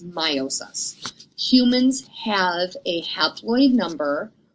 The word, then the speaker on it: meiosis: said their process is called my meiosis or meiosis the proper way to say it is meiosis humans have a haploid